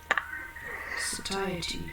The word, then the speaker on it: satiety: You said where you have a lot of goods, you said it's a point of Satiety.